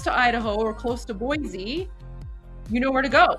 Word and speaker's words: Boise: Um, and then of course, Voy Boise. Boise. I remembered. I remembered cuz I mispronounced it yesterday, but then you guys taught me.